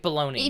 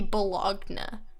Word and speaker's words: Bologna: but his I hate Bologna if you look at how Bologna is spelled by rights it should be blogged 'no which is so much